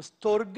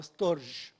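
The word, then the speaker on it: στοργή: اسمه النوع الرابع باللغه اليوناني اسمه ستورج او ستورج، احيانا بتتكتب STORGE واحيانا من غير الاي، فاحيانا بتتنطق ستورج او ستورج.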